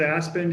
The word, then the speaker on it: Aspden: My guest is Aspden, and he is the, do I pronounce that right, Aspden? I usually just pronounce it Aspen, just like Aspen, Colorado.